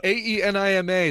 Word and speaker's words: Ænima: pronunciation may vary yeah ayyy ni ma that's the song not the thing that goes up your butt here is the hunt